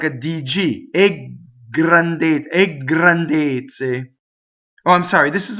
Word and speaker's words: grandezze: Here's our word a again, and notice again it's up to its usual tricks of making the G double. So you would say ggrandezze.